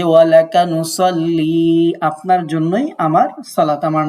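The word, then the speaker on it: نصلي: এই যে ইয়াটা দেখতে পাচ্ছেন, ইয়া মানে হচ্ছে আমার, যে ওয়ালাকা নুসাল্লি আপনার জন্যই আমার সালাত, আমার নামাজ।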